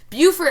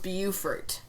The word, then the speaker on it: Beaufort: Beaufort of South Carolina is pronounced Beaufort, as in beautiful. The Beaufort of coastal North Carolina is Beaufort, as in Beauregard, which is also the correct pronunciation of the Duke of Beaufort's name.